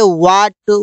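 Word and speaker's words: what: हैं silent letter H जब डब्लू के बाद एच आता है तो एच साइलेंट रहता है इससे यहां पर देखिए वट Y will while वाइट weather where one कहीं पर भी एच को नहीं बोला गया कहीं पर भी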